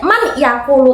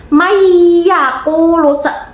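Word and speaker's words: من يقول: Nah bacanya itu tidak man yakulu tapi mayyakulu. Dari non sama ya-nya itu digabung langsung dimasukkan. Dengung ya, jangan cuma man yakulu, ingat-ingat.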